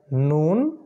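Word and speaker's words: نون: আর নুন উচ্চারণ করতে গেলে নাকটা ব্যবহার করতে হবে, নুন, নুন, নুন। ঠিক আছে, মূলত নাক বন্ধ করে ফেললে নুন উচ্চারণ করা সম্ভব হবে না।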